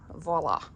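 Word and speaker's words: Voilà: The voila. Voila. Voila. That's how you pronounce it.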